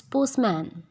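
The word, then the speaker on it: postman: ये पोस्टमैन नहीं होता, इट्स पोस्टमैन।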